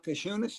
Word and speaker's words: Giannis: Uh Jounis, is that how you say his name? Yeah, you're the right. It's it's it's silent on the Jay, but you're getting there, coach.